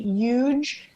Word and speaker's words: huge: like people from Florida, we don't pronounce the H. So I say huge as opposed to huge. Yeah. Huge. There's no, right? It's like, oh man, that's huge. No, it's not huge.